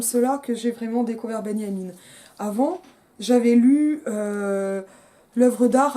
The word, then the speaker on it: Benjamin: Alors ça s'écrit Benjamin, mais il est allemand, donc on prononce ça comme un Y en français.